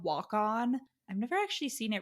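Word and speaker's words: Waconia: he's like I live in Walk On, and then like the like narration is like he pronounced it walk on, and I was like that's unhelpful.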